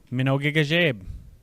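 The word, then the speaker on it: mino gigizheb: To say good morning, you might say Minogigajeb. More directly, it is a good morning. Let's break this word apart. Me. Me. No. No.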